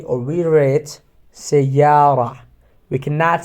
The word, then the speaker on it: سيارة: But if they are attached from another word, we have to pronounce it سيارة or Medina without ta sound, okay?